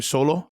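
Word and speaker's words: Xolo: Cholo.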